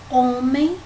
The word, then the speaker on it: homem: Na palavra homem, o mais forte é o O, né? Homem. Então, ela é o quê? Ela tá na penúltima sílaba, né? Men é a última, O é a penúltima. Então, ela é uma paroxítona.